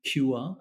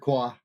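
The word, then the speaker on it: Kua: with Rebeca person and Patrick CUA I not sure how to pronounce his name you got close it's Patrick qua and we added actually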